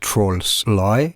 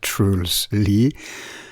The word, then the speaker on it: Truls Lie: That's how his name is pronounced, not Trolls Lie, but Truls Lie.